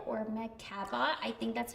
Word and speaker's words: Meg Cabot: But her name is Meg Cabot or Meg Cabot. I think that's how you pronounce it.